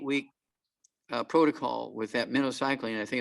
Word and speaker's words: minocycline: prescription for this um minnow cycling it's pronounced like the bait fish minnow minnow cycling they needed a six to eight week uh protocol with that minocycline i think it's like